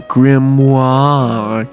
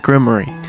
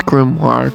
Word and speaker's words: grimoire: in his uh power like the grimoir cuz apparently that's how you pronounce it. Or is it grimary? People keep saying grimary. Why do I keep hearing grim? It's grimoire cuz grimoire sounds actually sayable and you don't want to even say grim.